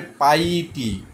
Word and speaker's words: piety: যেমন পাইটি, PIETY, এটার উচ্চারণটা হবে পাইটি।